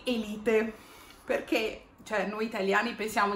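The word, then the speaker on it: Élite: sa, che è Elite, o come la pronunciano gli attori, Elite.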